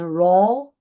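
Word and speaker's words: rho: This is we call uh pronunciation row like R O U RO. It's from the Greek.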